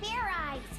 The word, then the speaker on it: Fairize: It's pronounced Fairize. There's no ice in it.